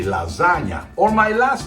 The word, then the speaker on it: lasagna: The GN sounds a little hard for America, but Italians pronounce it gnocchi. Just like you say lasagna, or my last name, Campagna.